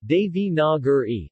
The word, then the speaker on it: Devanagari: Devanagari, Devi-na-gur-e, Devanagari IAST, Devanagari, a compound of Deva, Deva and Nagari. Nagari Hindi pronunciation, Dinari, also called Nagari, Nagari, Nagari is